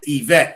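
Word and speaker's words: Yvette: It's Evette. Even though I never understood why there's a Y. Why is there a Y in the beginning of EET, but I could pronounce that? Somebody explain to me why there's a Y. Why is the Y silent?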